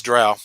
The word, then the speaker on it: drow: jump in all right tim how do you pronounce the race of dark elves oh it's dro no it's true it is drow i don't know man i've heard bro confirmed